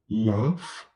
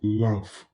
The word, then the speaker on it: laugh: cats, walk becomes walks, laugh, even though it ends with GH, it's pronounced f like an F. So laugh becomes laughs.